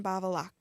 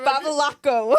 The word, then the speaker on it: Babalaco: John Babalac. Well, you forgot a syllable. Babalaco.